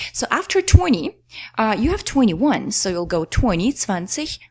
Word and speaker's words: einundzwanzig: So there's no S after 1. So it's not 1 und 20, but 21.